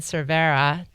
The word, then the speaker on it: Cervera: And I had an interview with Ken Cervera. Correct pronunciation there, right, Ken? You nailed it.